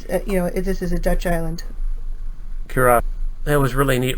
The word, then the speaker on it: Curaçao: How do you pronounce it? We were in Curaçao. Curaçao.